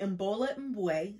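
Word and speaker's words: Imbolo Mbue: Next is Behold the Dreamers by Mbola Mbwe.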